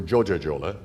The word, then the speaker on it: Coca-Cola: Only the names they were known by then, in keeping with Turkish pronunciation, were Joja-Jola and Pepsi-Jola.